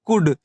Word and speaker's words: could: फिर यहाँ देख सकते हैं डी के पहले एल है, तब यहाँ एल क्या रहेगा हमारा साइलेंट रहेगा, तब इसे हम क्या पढ़ेंगे कुड, यानी जिसका मतलब होता